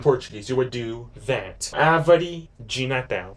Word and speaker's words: árvore: Árvore de Natal. A. And remember that this A has an accent. It's called an acento agudo. You're pronouncing it like an ah sound, more stronger.